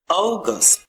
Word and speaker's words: August: Not August, like O long vowel sound. August.